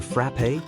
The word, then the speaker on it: frappe: New England, called a frappe, pronounced frap, a French term for beaten.